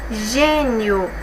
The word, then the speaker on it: gênio: regrinha, pessoal, da anterior, gênio. Nós temos aqui 2 sílabas, a penúltima é a mais forte, ela é terminada em ditongo, gênio, tá bom?